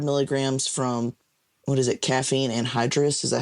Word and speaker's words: caffeine anhydrous: If you've never read the ingredients on Oh, it, it'll say, oh, 300 milligrams from what is it, caffeine anhydrous?